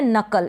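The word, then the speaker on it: knuckle: फिर ये है नकल, इसको आप नकल पढ़ेंगे, क्या, नकल। यहाँ पर एन से पहले के है, के साइलेंट है, एन को न पढ़ेंगे,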